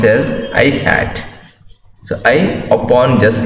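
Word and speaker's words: î: ax I cap or I hat, that is pronounced as I hat.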